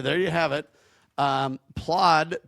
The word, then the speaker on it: Plaud: And this uh Claude or I'm sorry, Plaude.